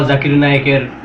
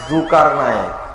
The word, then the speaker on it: জাকির নায়েক: এবার আমরা মুজাফফর বিন মহসিনের থেকে শুনে নিব তার দেওয়া জাকির নায়েকের নতুন একটা উপাধি। জাকির নায়েক জুকার নায়েক।